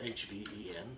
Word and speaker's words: Hven: Hven is spelled H-V-E-N.